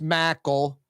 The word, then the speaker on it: Mackel: to be saying that on the air it's pronounced Mackle and he's got a twin brother and we've